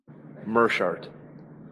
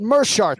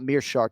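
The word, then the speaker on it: Meerschaert: Gerald Mearshart, though, for the broadcast this weekend. It is not Mearshart, despite that double E in the first syllable of his last name.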